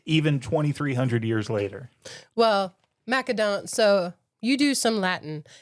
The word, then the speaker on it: Macedon: But in English we have softened that in many places to an S sound. And so you could definitely make the argument that it should be Macedon and people definitely do.